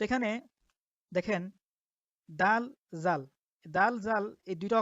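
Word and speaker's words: دال: দাল বাংলা তার উচ্চারণ দ আকার দায়ের মতো, দাল।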